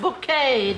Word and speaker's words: Bucket: please okay oh yes we have a bucket pronounced bouquet yeah Cat Valentine and